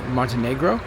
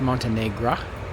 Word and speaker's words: Montenegro: doing a um day trip from dubnik into Montenegro which apparently have been pronouncing wrong this whole time it's actually pronounced Montenegro it's the smallest country of the Balkans uh